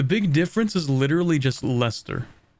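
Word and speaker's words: Leicester: difference is literally just Lester that's how that's pronounced right any Brits in chat that's got to be Lester it's never pronounced the way it's spell 37 development it's Lester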